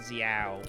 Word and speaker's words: Xiao: happy that I've now pronouncing Xiao creepy sort of like saying Z ow like it makes a